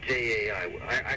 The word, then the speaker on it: Jai: But it's pronounced Jai.